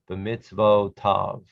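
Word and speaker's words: בְּמִצְוֹתָיו: B'mitzvotav, b'mitzvotav. The yud is silent in these forms right here.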